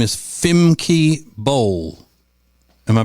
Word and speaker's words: Femke Bol: And her name is Femke Bol. Am I pronouncing it correctly? That's correct. Femke Bol.